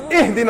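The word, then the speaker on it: اهدنا: You better not say, Ahdina as-sirat al-mustaqim, otherwise I'm going to pound you. It's Ihdina as-sirat al-mustaqim. Read it right.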